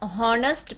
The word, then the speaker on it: honest: For example, he is an honest man. Here, honest word begins with H, that is consonant, but we use an. Why? Since H is silent here, so we have to use an in front of the word honest.